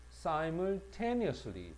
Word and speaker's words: simultaneous: 그 다음에 simultaneous인데 이 발음할 때 si라고 발음을 해야 됩니다. sim이라고 발음하지 않고 simultaneously, 자 동시에라는 부사야.